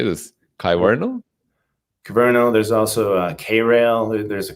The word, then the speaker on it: Kyverno: Kyverno.